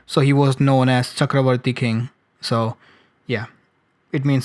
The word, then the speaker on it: Chakravarti: sure, but probably Sanskrit, Chakravarti, it's pronounced Chakravarti, but if you are from eastern side, you will pronounce Chakrabarti, which is, same thing.